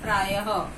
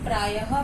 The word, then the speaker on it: प्रायः: अब विसर्ग का हम उदाहरण लेते हैं। हमने बोला प्रायः, तो ये जो प्रायः बोला, इसमें ह की आवाज निकल रही है, तो ये इनका डिफरेंस है।